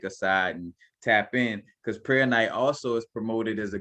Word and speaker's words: prehnite: Per night, some people, I might be kind of catching the H too strongly.